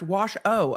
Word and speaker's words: Washoe: motion and the affidavit Washoe is pronounced wash oh okay thank you it's spelled shoe it's like washu s-h-o-e English is such a